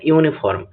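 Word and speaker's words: uniform: দেখো এখানে ইউনিফর্ম, আগের মতনই ইউনিফর্ম শব্দটির প্রনাউন্সিয়েশন করলে দেখা যাবে ওয়াই ডবল ও বা ইউ উচ্চারণ দিয়ে শুরু হচ্ছে, তাই এর আগে মানে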